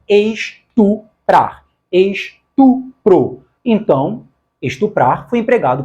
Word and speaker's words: estuprar: O correto é estuprar, estupro. Esse negócio de falar estrupar, estrupo, está errado. O correto é estuprar, estupro.